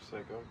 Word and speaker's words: Seiko: Seiko.